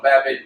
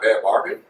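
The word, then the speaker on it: Bhad Bhabie: No, Bad Baby. Yeah. So it's Bad Baby, not Bad Barbie? No, Bad Baby.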